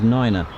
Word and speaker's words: niner: a I think there's three numbers that are pronounced differently so uh three is three five is five and nine is Niner by the way just